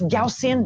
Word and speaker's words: Gaussian: And yes, it's pronounced Gaussian, not Gaussian.